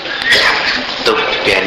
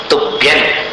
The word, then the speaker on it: तुभ्यं: तुभ्यं नमः, तुभ्यं न जैसा उच्चारण है अनुस्वार का।